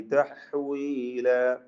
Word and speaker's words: تحويلا: തഹ്വീല, ഹാഇന്റെ ഉച്ചാരണം പ്രത്യേകം ശ്രദ്ധിക്കുക. വഖഫ് ചെയ്യുമ്പോൾ അലിഫിന് 2 ഖദറിൽ കൂടുതൽ ദീർഘം വരരുത് എന്നത് പ്രത്യേകം ശ്രദ്ധിക്കേണ്ടതാണ്. 2 ഹറക്കത്തിന്റെ അളവിൽ മാത്രമാണ് ദീർഘിപ്പിക്കേണ്ടത് എന്നർത്ഥം. മദ്ദഇവാദ് തബീഇയാണ്. തഹ്വീല അത്ര മതി. തഹ്വീല എന്ന് കൂടുതൽ നീട്ടിപ്പോവരുത്. ബാറക്കല്ലാഹു ഫീക്കും.